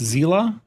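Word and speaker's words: Seele: Her name is Seal and after Hongkey star rail character pronounced Zela.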